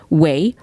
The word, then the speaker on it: güey: So they have the Wikipedia meaning, which is way, usually misspelled, or way, pronounced like an English word of way, W-A-Y, is a word of